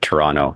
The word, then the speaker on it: Toronto: that you're familiar with Toronto you never pronounce the second T in toron put yeah okay so